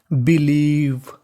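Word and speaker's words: believe: आपको रूल याद रखना है कि अगर आपको इंग्लिश की किसी भी मीनिंग के आखिर में आपको ई लिखा मिले तो आपको ई का उच्चारण नहीं करना। तो मीनिंग बनी बिलीव।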